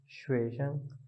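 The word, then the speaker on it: 学生: अब यहाँ पे आप देखें जो श्वे है इसको उठा के पढ़ना है और शंग को वैसे ही न्यूट्रल पढ़ना है श्वे शंग।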